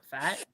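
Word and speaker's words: Pfaadt: I'm gonna spell it p-f-a-a-d-t that's fat fat is it just fat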